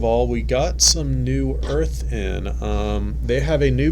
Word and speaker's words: Urth: How do you spell that? EARTH? URTH. I knew that. I was just testing you. Lies. But it sounds like earth.